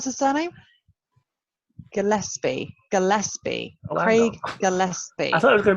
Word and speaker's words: Gillespie: um so my third film is um craig galepsie or gillespie oh how do you pronounce the surname gillespie gillespie craig gillespie i thought it was going to